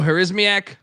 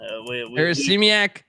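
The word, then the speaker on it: Harasymiak: Remember, how do I pronounce our guy's name again? Who's the UMass head coach now? Joe Harismiak. Yeah, Harismiak.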